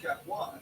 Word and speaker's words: Capois: It's a French name. French spelling at the end of it. Capois. It's spelled C-A-P-O-I-S.